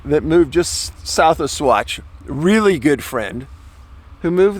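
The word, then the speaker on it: Saguache: so this is an area monte vista colorado south fork swatch i know it looks like sagger watch but it's pronounced swatch cochitopa pass ten thousand foot elevation this area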